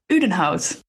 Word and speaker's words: Udenhout: But let's start at the beginning, Marit, because you were born in, how do you pronounce it? Udenhout.